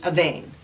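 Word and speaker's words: Avène: ave a vein aveen i think an e with an axon grav is a long a so that would be a vein french don't you know uh the second sickle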